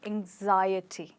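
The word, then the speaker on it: anxiety: सकते हैं एंजाइटी okay और एंजाइटी में जैसे आपने गेस कर लिया होगा हमारा स्ट्रेस आई पर पहुंच चुका है और ये बन गया है एंजाइटी राइट तो हमने आज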